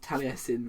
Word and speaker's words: Taliesin: tailee now I know Welsh and their strange language dictate that Taliesin is pronounced Taliesin when it should kind of be pronounced tail es tail Eason or something like that tail Ison but you know at